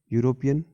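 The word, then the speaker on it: European: ठीक है, यूरोपियन जब हम प्रोनाउंस करते हैं तो यूरोपियन में ये का साउंड आता है, जो कि एक व्यंजन है, यानी कि कॉन्सोनेंट है।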